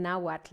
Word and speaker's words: Nahuatl: So just so you know, what you're reading, when you see the letter X, just like Mexico, we'll pronounce it like sh, S-H. And one of the sounds very typical in Nahuatl is the TL, tl. So just try saying that a couple of times. Tl, tl, tl.